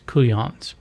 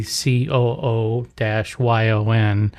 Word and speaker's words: couillon: I called you guys couillons. Now, couillon, it's spelled a lot of different ways, but for the sake of keeping things simple, you just say COO-YON.